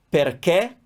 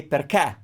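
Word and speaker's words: perché: you will find that in many parts of italy especially in the north they will say perca they will open up that final it's not correct but if they say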